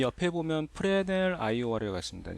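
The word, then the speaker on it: Fresnel: 이 옆에 보면 프레넬 IOR이라고 있습니다. 예, 프레스 뭐 그냥 읽으면 프레스널이 되는데 이게 S가 묵음이더라고요.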